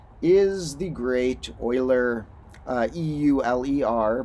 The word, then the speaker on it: Euler: the great Euler uh e-u-l-e-r but pronounced more like Euler and uh yeah his